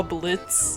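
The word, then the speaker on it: Blitzø: his name is blitz and the o is silent i've been a fan of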